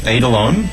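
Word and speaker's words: eidolon: was possible sounds fascinating the album is called adelon and and the same title of the show yeah and that's spelled e i d o l o n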